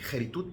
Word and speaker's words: keritut: Aquí dice que keritut, pero la pronuncia porque es por semijut, pero la pronunciación correcta es keritut con K, ¿ok?